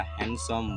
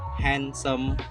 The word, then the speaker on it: handsome: Yes, silent D, which we have three silent letters. The first is sandwich, and the second is Wednesday, and the third is handsome boy.